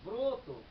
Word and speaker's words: ব্রত: ওকার রূপ লাভ করছে, ব্রত। লিখছি এমনি ব্রত, কিন্তু উচ্চারণ করি আমি ব্রত, ব্রত।